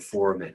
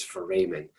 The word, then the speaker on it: foramen: say that this word um two different ways foramen and foreman when i was a student my instructor said four men so that's how that's what's sort of tattooed